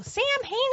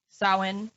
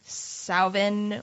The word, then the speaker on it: Samhain: but it is pronounced sawin or sometimes there's it makes a v sound salvin or salveen like nothing with a